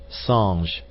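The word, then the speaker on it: singe: in the same way he was taught to pronounce ape Sange and tree arber he was a most eager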